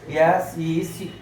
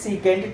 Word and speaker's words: secant: You take first three letters from the word secant, but you read as full name. Don't sec theta. That is not correct pronunciation. Correct pronunciation is secant theta.